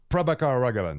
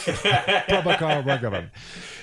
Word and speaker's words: Prabhakar Raghavan: Okay, and so how do you pronounce his name? Prabhakar Raghavan? Prabhakar Raghavan. Yes. Let's be honest with dear watcher. We practice a couple of times. Prabhakar Raghavan.